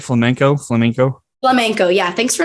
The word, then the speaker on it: flamenco: is flaming am i saying it right flamenco flamenco flamenco yeah thanks for not calling it flamingo